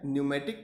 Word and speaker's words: pneumatic: हमारी है न्यूमेटिक technique इसमें पी साइलेंट होता है न्यूमेटिक टेक्निक इसको बोलते हैं ठीक है इसी को